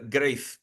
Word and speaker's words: Greif: going to be talking a little bit about Greif. Is that how you pronounce it?